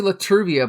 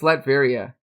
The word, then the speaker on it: Latveria: I always used to say Laturvia, but it's Latveria.